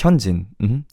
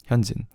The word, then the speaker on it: Hyunjin: It's Hyunjin. Hyunjin. If anything, just don't make it too accented. Hyunjin, just Hyunjin.